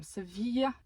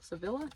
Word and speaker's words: Sevilla: postcards my friend Audrey sent me one from seevilla why don't I say it like that se Sevilla Sevilla right here I want to make a